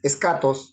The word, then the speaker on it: eschatos: y en es caso la otra es escat pero se escribe eschatos pero la H no no no se suena Entonces es escat porque tiene acento escat significa lo último No